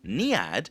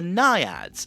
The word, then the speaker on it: Naiad: But what goes even further is that even though her name is pronounced Niad, her name actually is derived from Greek myth, and it's actually pronounced the Naiad.